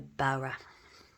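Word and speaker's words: bodhrán: The Bowra, or the Bowra, whatever you want to call it. It's written Bodran, but don't call it that. That's not the actual pronunciation.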